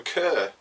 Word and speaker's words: Kerr: So you pronounce it Kerr, do you? I would go for Kerr.